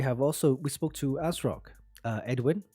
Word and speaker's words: ASRock: ASRock yeah it's just as rock but it's um but the rock is is more it's more um you pronounce the rock more so it's like you